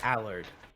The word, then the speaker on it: Allard: got his name is Allard. But it's spelled- Allard. A Yeah, lard, it's spelled lard. Allard, but it's Allard.